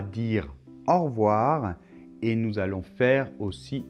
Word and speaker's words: au revoir: a appelés 1,10 g a et u ça fait le son au alors la lettre v